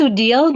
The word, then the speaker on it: Odile: Well, it's pronounced Odile, but everyone calls me Odie. So Odie, oh, Sweet. Oh, It's it's easier to supposed say to in be. English. Yeah. Okay, is it foreign? It's a French name.